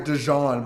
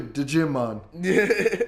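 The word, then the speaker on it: Djimon: It's literally Digimon. Digimon because the J's probably, I don't know. I would say the J is silent.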